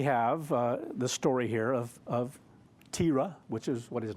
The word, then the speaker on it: Terah: So here we have the story here of Terah, which is what his name was. That's how it's pronounced.